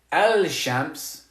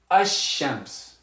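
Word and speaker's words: الشمس: to pronounce that land we're not going to say al-shamps we're going to say hashems we're going to say we're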